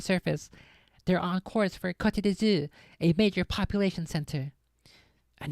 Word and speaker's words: Côte d'Azur: To pronounce it in British English, break it down into sounds. Côte d'Azur.